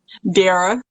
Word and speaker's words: Derra: talk to your name dara rhymes with sarah but with the d sarah okay nice it's